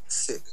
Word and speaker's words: Sikh: and enunciations so like the h is like there for a reason because it's like sick but like it's a little extra like right but like